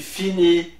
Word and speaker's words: finit: at the end and we do not pronounce the T at the end. We just say fini. You say je finis, tu finis, il finit, elle finit.